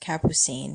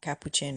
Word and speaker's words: Capucine: Just as a little FYI, her name is pronounced Capucine, not Capuchin or anything.